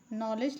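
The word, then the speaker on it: knowledge: यहां पर के साइलेंट है। ठीक है? के डी दोनों हम पढ़ते नहीं हैं। नॉलेज लिखा है तो नॉलेज का हिंदी मतलब ज्ञान होता है।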